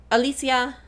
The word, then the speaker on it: Alicia: Alicia. I need to work on that. I need to work on remembering that that's how her name is pronounced.